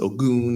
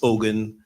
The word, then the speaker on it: Ogun: those watching online um let me start by clearing out my name you've you've heard it pronounced goon you've heard it pronounced Ogen I will answer to both I'll answer to hey